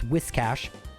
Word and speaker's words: Whiscash: Actually mispronounced that. It's Whiscash.